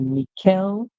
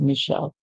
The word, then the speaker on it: Michelle: So we hear ish, mish, and then we get Michelle. The end is silent. And this name is popularly pronounced this way.